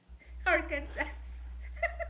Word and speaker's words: Arkansas: know the spelling is totally different than the pronunciation because when you read it to the you know to the spelling aransas okayas Arkansas you want me to tell you a